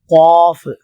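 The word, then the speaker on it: قاف: வடிவத்தில் எழுதப்படும் ஃபா அடுத்ததாக காஃப் காஃப் காஃப் என்று சொல்லும்பொழுது நாக்குடைய உள்பகுதி இந்த மேல் பகுதியில் போய் ஒட்ட வேண்டும் காஃப் காஃப் காஃப் இதுவும்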